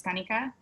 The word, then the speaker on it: Kanika: by kanika um and i still do go by kaneka i think you know it's just kind of followed me throughout and which is a more americanized pronunciation of my name um i didn't want customers to slip up on you know an accurate but accented version of it which is kanika and it that wasn't